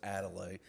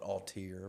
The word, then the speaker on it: Adelaide: That is the way you pronounce it, by the way. It is Adelaide. There's some people call it Altier.